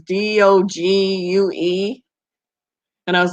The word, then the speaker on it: Dogue: And at first I didn't know how to pronounce it, and it just looks like Dogu. It was Dogue.